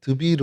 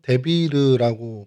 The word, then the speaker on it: 드빌: 드빌이라고 저희가 이렇게 하는데 히브리 발음으로는 드비르 혹은 데비르라고 발음을 하고 있고요.